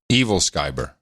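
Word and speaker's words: æbleskiver: I have on the list of clips pronouncing Evilskiver pastry. Evilskiver.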